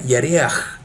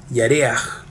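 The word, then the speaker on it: ירח: Luna en hebreo se pronuncia Yareach y se escribe de la siguiente forma. Es Yod Reish Hei, Yareach.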